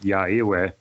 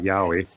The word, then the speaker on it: Yowie: Probably you don't want to correct the adult and say, oh, the Yowie says that it's actually pronounced Ya'ewe, not Yowie.